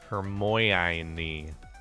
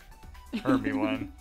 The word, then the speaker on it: Hermione: That's how I used to always pronounce them when I was a kid. Hymn. Hermione. Hermy one.